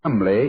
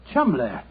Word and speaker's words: Cholmondeley: Being an American, he had no reason to know that the name Chumley is in no way pronounced the way it is spelt. Well, I never thought of that. Chumley.